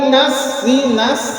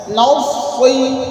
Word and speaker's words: نصي: নাউসি نصي নাউসি نصي যদি বলেন নাসি তাহলে কিন্তু হবে না হ্যাঁ নুনকেও কিছুটা মোটা করতে হবে হ্যাঁ নাউসি نصي নাউসি نصي নাউসি